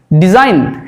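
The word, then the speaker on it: design: তারপরে দেখো জি জি কোথায় কোথায় সাইলেন্ট হয়ে যায় সাইন আমরা সবাই সাইন করি SIGN দেখো সাইন জি উচ্চারিত হচ্ছে না সাইন ডিজাইন ডিজাইন ডিজাইন রিজাইন অর্থাৎ দেখো জি যদি আমি বাদ দিয়েও বলি রিজাইন তাহলে SIN রিজাইন জি উচ্চারিত হচ্ছে না।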